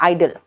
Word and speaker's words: idol: IDOL में ओ का pronunciation नहीं होता, याद रखना, आइडल।